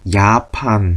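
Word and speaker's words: Japan: 생겼네요 이사은 어떻게 읽을까요 첫 글자 첫 스펠링 저 뭐라고 있죠 제가 아니고 독일까 요라고 하죠 요트 요트 그래서 재팬이 아니고 야판 하고 있습니다 야판 야판 아는 그대로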